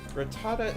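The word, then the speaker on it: Rattata: name it hey rita ratata is how i pronounce ratata anything else is wrong so say i so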